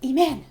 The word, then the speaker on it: Eman: beach or something and my mom's like a man because that's how they say my name oh really yes she's